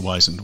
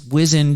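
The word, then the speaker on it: wizened: how to pronounce whizzond i think i've heard it wise several times now it's the wisened one or here's my thought on this i bet you it's wizzened in like england and i heard it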